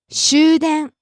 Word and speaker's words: 終電: There's also a second pronunciation, rising on the second syllable and staying high. 駅員。 Next, 新宿。 Shinjuku, shopping business district in Tokyo. 新宿。新宿。 Rising on the second tone and staying high. 新宿。 Next, 終電。